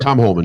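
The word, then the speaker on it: Tom Homan: Tom Holman. Yep, Tom Holman.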